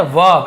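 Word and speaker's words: verb: ठीक है, वर्ब ऐसे बोलते हैं, वर्ब लिखा हुआ है लेकिन आर थोड़ा सा साइलेंट होता है, वर्ब ऐसे बोलते हैं।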